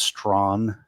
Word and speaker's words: Strachan: And so when I hear somebody like Owen Strachan, I keep saying Owen Strachan. I think it's Strachan actually is the pronunciation. So please forgive me if that's how it's supposed to be pronounced.